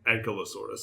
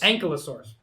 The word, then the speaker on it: Ankylosaurus: So how is it actually pronounced again? Ankylosaurus. Ankylosaurus.